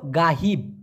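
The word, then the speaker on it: ghaib: পারিশ্রমিক গাহিব অথবা গায়েব মূলত উচ্চারণটা হওয়া উচিত ছিল গাহিব তবে অনেকে গায়েব বলে মানে গায়েব অথবা অদৃশ্য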